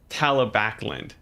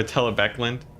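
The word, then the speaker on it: Talabecland: You think I pronounce Talib? Oh, it's Talabakland. Talabakland. Oh, Talabek. Okay, I see. Or Talabekland.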